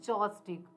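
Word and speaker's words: joss stick: यहाँ पर ध्यान देंगे कि ये JOSS-STIC के जॉस्टिक स्पेलिंग के अकॉर्डिंग, स्पेलिंग जो है उसके अकॉर्डिंग जॉस्टिक बनता है, लेकिन ये प्रोनाउंसिएशन में आता है जॉस्टिक, जॉस्टिक।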